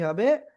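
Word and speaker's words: ح: Please, just কোনো নুক্তা হবে না, উপরেও কোনো নুক্তা নাই, নিচেও কোনো নুক্তা নাই। তো এই অক্ষরের নামটা কি হবে? গলাটা চেপে এক আলিফ টানিয়ে আমরা উচ্চারণ করব, হা হা হা।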